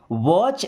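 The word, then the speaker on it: watch: दोस्तों यहाँ पे जो टी आपको दिख रहा है, ये टी साइलेंट होता है। साइलेंट का मतलब क्या होता है? उसे लिखा जाता है बट पढ़ा नहीं जाता है।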